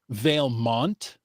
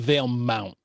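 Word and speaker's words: Valemount: I'm I'm hearing Veil Mont instead of Veil Mount.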